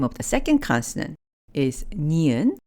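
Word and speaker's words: 니은: the second consonant is neon which has a sound very similar to the English n as in nice the name of the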